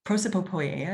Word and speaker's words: prosopopoeia: And prosopopoeia is how you say it. There's a lot of P's in the word, but it translates to something like speech in character.